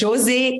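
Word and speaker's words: Josée: My name is Jose. It's very French.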